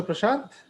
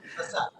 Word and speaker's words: Prashant: Toastmaster Prashant. Yeah. Okay. In fact, Okay. I was listening. I could make out that you pronounced Prasad. So I was Okay. waiting for Prasad to come.